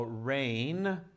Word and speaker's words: reign: different meaning okay so rain like this means to rule to be on the top in a leader position to lead okay so same pronunciation rain rain okay keep that in